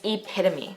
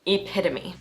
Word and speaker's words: epitome: say it out loud right now yes it's epitome one of those weirdly spelled english words epitome now with this word what letter is silent